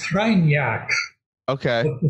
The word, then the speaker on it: Kreinar: It's pronounced Kreinar, Okay.